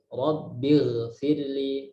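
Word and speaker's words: رَبِّ اغْفِرْ لِي: Nah, kita bacanya Rabbighfirli, bukan Rabbigh, bukan Rabbigh. Ya. Karena apa? Sukun sebelumnya kasroh. Rabbighfirli.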